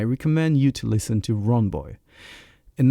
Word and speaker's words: Ronboy: And today, I have the immense pleasure to receive, aka Ronboy. That's right. Did I pronounce everything correctly?